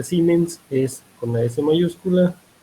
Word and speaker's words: Siemens: si no dicen siemens se escribe sienes se pronuncia ciments es una esa mayúscula y pues este tipo